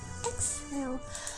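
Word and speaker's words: Axel: Okay, Excel. I've been reading his name wrong. Excel.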